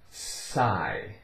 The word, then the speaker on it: sigh: The letters GH are silent when the letter I is in front of them. Simple enough, right? So here we have psi. Psi. GH, it's not making any sound here.